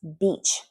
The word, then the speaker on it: beach: That's very important to pronounce beach correctly. If you pronounce that E like an I, you're saying a different word.